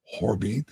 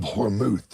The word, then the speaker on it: Hormuz: Hormuz, is that how you pronounce it?